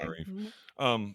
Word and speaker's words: Tananarive: I got the Tanana part, and I was like, I just said Rive. My bad. it's okay. Tananarive.